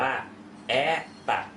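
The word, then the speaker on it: это: ภาษา รัสเซีย นั่น เอง อัน นี้ อ่าน ว่า แอ ตัด นะ ครับ อ นี้ ถูก นะ ครับ แอ ตัด เพราะ ว่า อุาน อยู่ ที่ พยาง หน้า O ตัว นี้ เลย ต้อง ออก เป็น สระ R นะ ครับ แอ ตัด แอต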